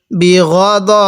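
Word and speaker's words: بِغَضَبٍ: বাজের বি, গন জবর গ, বি গ, দত জবর দ, বি গ দ। অনেকেই আমরা বি গা দা এরকম করে পড়ি, এরকম করে পড়ব না।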